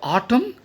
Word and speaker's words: autumn: Children, have you heard this word autumn? Autumn. Once again, Autumn. N is silent here.